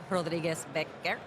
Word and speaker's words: Rodriguez-Becker: I think that like a few people were like, "Wait, Rodbeck isn't your actual last name." It's not, apparently. It's Rodriguez-Becker.